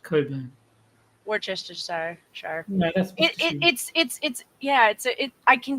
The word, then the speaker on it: Cockburn: One of my favorites is Cockburn is not pronounced the way that you would expect. It's actually Coburn.